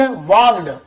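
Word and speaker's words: walked: the forest, Mahatma Buddha वॉक्ड, L silent होता है, वाल गड़े नहीं पड़ेंगे, वॉक्ड चले, टूवर्ड्स यानी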